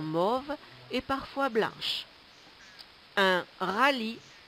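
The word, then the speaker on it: rallye: et parfois blanches un rally R a l l y e le E ne se prononce pas le rally est une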